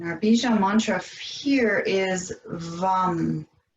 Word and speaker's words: VAM: And our bija mantra here is VAM. It's spelled V-A-M, but it's pronounced VAM. And again, it's a long V, short A, long M.